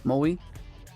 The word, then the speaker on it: Moe: Like Maui, except it's O. Moe.